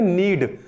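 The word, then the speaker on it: knead: है नीड the dough नीड के एन ई ए D pronounce क्या करंगे नीड नीड द डो क्या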